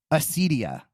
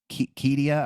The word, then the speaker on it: acedia: John Cassian, and then Gregory the Great, and they named it acedia. That's a Greek word. So without, and then I think actually you would pronounce it with a hard K, Kedia.